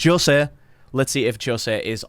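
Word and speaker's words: José: all right so you've you've butchered the pronunciation A little bit but Jose let's see if Jose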